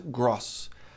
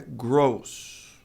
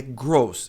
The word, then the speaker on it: gross: A maioria das pessoas pronuncia gross, mas é gross. Ten certeza que você tá surpreso aí desse lado. É gross e não gross.